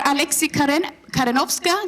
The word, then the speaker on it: Alexy Karenowska: And you are Alexy Karenowska. Did I pronounce that right?